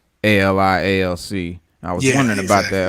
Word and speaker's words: ALI ALC: now how do we say do we say ali alk or ali alc what is that um you